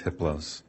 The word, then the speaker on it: Hypolos: a level four entity his name is hypolos the H is silent the other three are